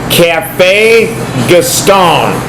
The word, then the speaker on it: Café Gaston: the state of Illinois we we here at Cafe gastone did I say it right yes you did